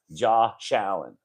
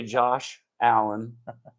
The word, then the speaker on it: Josh Allen: They say his name without pronouncing his name properly, and I was sticking up for Josh. But all the media people were saying his name like it's spelled JAW space SHALLEN.